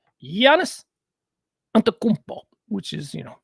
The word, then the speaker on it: Giannis: different things here so this is jannis G Giannis ano which is you know very difficult but he's a superstar so we go the extra effort to learn how to pronounce his name yanis ano of the Milwaukee Bucks had a uh